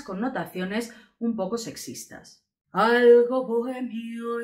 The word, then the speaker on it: bohemio: Bohemio también nos regala otra H intercalada, pero en este caso sí que se dan dos sílabas, hay un hiato, ya sabéis que la O, la E no se juntan, son dos sílabas separadas.